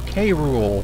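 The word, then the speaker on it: K. Rool: who it is it captain cool or K rool however you want to pronounce it or say it not pronounce it say it yeah Donkey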